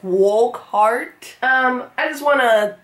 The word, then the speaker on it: Wokhardt: right it's spelled w-o-k w-o-k-h-a-r-d-t walk walk heart wolf heart did they just mispronounce his name in the there's no way because there's like two videos up and it's spelled exactly the same so it's walk heart um i just wanna say whoever requested this